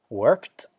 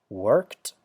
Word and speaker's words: worked: sont comme par exemple si le verbe se termine par le son peut que feu ous exemple worked fixed stop tu proposes tu sais pas si vous entendez bien mais on entend bien un sont eux à la fin puisque vous voyez bien ici worked on a bien le son que comme indiqué ici fixed fixe vous voyez